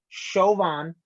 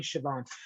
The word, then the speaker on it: Chauvin: the name right because apparently i was saying it wrong chauvin yes the show on case reaction i was saying siobhan uh so just a